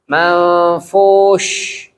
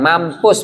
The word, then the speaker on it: منفوش: Nah, ini juga sya bukan sin. Wa takunul jibalu kal ihnil manfus. Ada yang sin bacanya. Atau sa ngikut mabsus kal ihnil manfus. Itu juga salah. Harusnya manfush. Bukan mampus, beda ya, mampus.